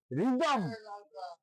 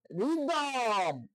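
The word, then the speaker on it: rhythm: তারপর আমরা বলতে পারি রিদম, আর এইচ ওয়াই কে এইচ এম, রিদম। দেখেন এখানেও এইচটা উচ্চারণ হয় নাই।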